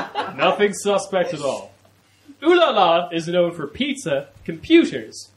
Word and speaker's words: Olialia: It's pronounced Olialia.